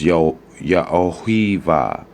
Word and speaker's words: Yaohiva: Yeah, that wa should be a va, because that's the double V, because this, that, So it's Yaohiva.